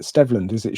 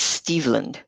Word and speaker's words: Steveland: I've always pronounced it Stevland. Should it be Steveland? Right. Okay. Yeah, he's named after Stevie Wonder, whose real name is Steveland. Okay. And I did some research. I was tempted to call him up and ask, hey, how do you say your name? But then I found a clip of Diana Ross talking to him, and she said Steveland, so that must be true.